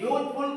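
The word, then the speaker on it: useful: फिर आगे देखा यूजफुल यूजफुल का उच्चारण भी मैंने या से किया है तो क्या लगाएंगे ए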